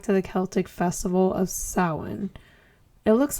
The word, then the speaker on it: Samhain: Its roots go back to the Celtic festival of Samhain. It looks like Samhain, but it's pronounced Samhain.